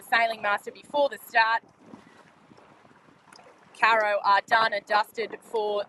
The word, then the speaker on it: Caro: This is for Adventures of a Sailor Girl on board Caro, is how we pronounce it, for everyone who's been wondering.